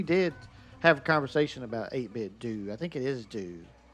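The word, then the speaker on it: 8BitDo: 8-Bit Do or 8-Bit Dough? Do. That's what I thought. Kunma, that's right. It's 8-Bit Do.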